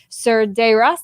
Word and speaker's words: Cerdeiras: the course of this time this is sergei ross did i say it right that's pronounced right yeah that's always like a thing